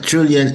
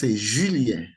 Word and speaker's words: Julien: the French pronounce Julien. Julien. Ooh, Julien. Julien. Oh, I like that. Julien. Oh, that's good. Oh, Yeah, but English speaking people say Julian, but the proper pronunciation is Julien.